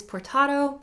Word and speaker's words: portato: next up is portato spelled like potato but you have an r in there portato is just several